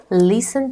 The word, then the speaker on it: listen: Wake up, get up, go to the bathroom, have a shower, have breakfast, listen to the radio. T is silent, do not say it.